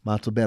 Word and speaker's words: Montalbano: But what are your busiest seasons or sales events, and how long does a company like Montalbano, I think I pronounced it with a soft A, Montalbano, how long do you need to prepare a campaign before launch?